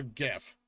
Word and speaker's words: GIF: troll by the way because it's graphic interface so it's a hard G so gif it's GIF it's pronounced